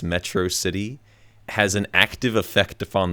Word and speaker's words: Metro City: opinion like the way Megamind keeps mispronouncing Metro city as metrosity like that's hilarious to